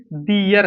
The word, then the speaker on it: there: अगला number THEY, दे के साथ अपना की अंग्रेजी दियर। क्या होता है? दियर। THERE से पढ़ते हैं देयर, इसे देयर पढ़ेंगे, लेकिन इसे दियर पढ़ेंगे।